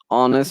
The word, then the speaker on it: honest: We say honest, not honest. Okay, and Mhm. he is an honest person. Although there's a consonant, you put the article an.